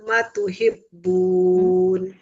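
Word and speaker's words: ما تحبون: mim ba'di ma arakum ma tuhibbun. Ma tuhibbun. Mimnya fathah ketemu alif. Diulang Ibu.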